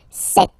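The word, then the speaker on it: sept: Then here, remember, P is not pronounced. Okay, it doesn't exist, so you get this set sound.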